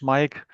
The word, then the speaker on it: Maik: And um yeah, my name is pronounced like the English Mike.